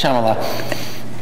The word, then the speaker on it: Shyamalan: It's Shyamalan. It has an N at the end.